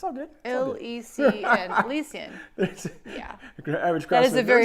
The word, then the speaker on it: Elysian: I see it. Elysian. Elysian. That's what I said. I said Elysian. Oh, Elysian. Elysian. It's all good. Elysian.